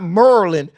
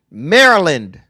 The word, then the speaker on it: Maryland: Not Maryland Merlin. Maryland. But what's wrong with them Maryland people can't pronounce words?